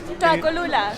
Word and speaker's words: Tlacolula: Tlacolula. She's saying it right. I'm not good at pronouncing things.